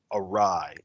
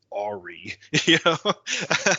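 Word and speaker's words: awry: right and it would be be words like arai a w y right or epitome e p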